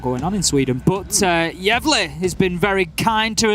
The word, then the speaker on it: Gävle: It's spelled Gavle, and I was like, so Gävle or Gävle or something, right? And Bikini was like, no, it's like Gävle. saying yeah and then bleh afterwards. It's like Gävle, and I